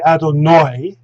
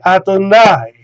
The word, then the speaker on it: Adonai: he's going to say adonoi and in the story of lot he's going to say adonai and so maybe there